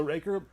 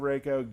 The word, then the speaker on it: Reiko: Reiko's All right, coming. gameplay breakdown. Did I say it right You that said it time? wrong. Reiko. It's still Reiko. So Raker, you've done it to me.